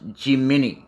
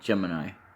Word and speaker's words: Gemini: not in this game even though it's actually generally spelled as a Gemini this one actually in this game fun fact supposed to be pronounced G mini Crest believe it or not